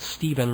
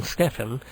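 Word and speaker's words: Stephin: I believe he pronounces it Steven rather than Stefen of the Magnetic Fields.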